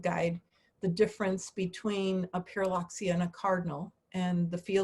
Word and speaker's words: Pyrrhuloxia: And I'll say Pyrrhuloxia, and I get them to say it, and so they learn something. And then I show them in the field guide the difference between a Pyrrhuloxia and a cardinal, and the field guide marks